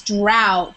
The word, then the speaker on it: drought: a word, brought, and there's brought and drought is the same. Thought, no, drought. It's not. It's drought. So it sounds like this, even though that's not the right way to spell it. It sounds like drought.